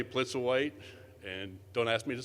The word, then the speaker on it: Plitzuweit: lot of help but i've learned to say blitz or white and don't ask me